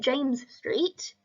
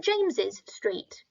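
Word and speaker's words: St James's Street: what that's fine too the only thing it really changes is how you say it so the first one is sent James Street and the second one is said James's Street but both are correct and both mean the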